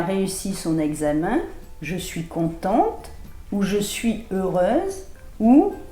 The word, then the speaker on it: content: ตั ว ท้ า ย ชั ด ๆ Content, contente.